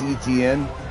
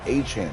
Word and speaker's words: Etienne: Yeah, I had no idea that Travis Etienne, or you know, as everyone called him Etienne, that's really Achane, is how you pronounce his name.